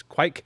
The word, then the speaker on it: Kveik: with what exactly what I say which is quite however I do hear people say like if you listen to the Old Norse pronunciation it's like and it has you know